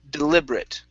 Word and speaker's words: deliberate: at the very end even though we have an ate there are some words in english that end with an ate and that ate is pronounced like a short i and a t this is one of those words okay um so instead